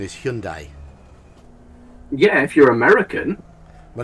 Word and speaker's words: Hyundai: connect correct pronunciation is Hyundai yeah if you're American well that's the Japanese or the Korean pronunciation but in Britain we say hi and die but we're wrong unfortunately and die a Birmingham